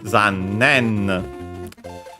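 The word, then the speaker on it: 残念: By the way, this is quite the exception because it's actually accented on the ne. Zannen.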